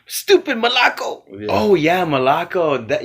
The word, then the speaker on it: молоко: Молоко. Stupid Malaco. Yeah. Oh yeah, Malaco. That you know what that Moloko.